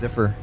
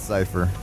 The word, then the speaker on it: Cypher: I just see it and my brain goes, it's Ziffer. But it's not. It's Cypher. Like Cypher.